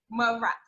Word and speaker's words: Mras: Mras.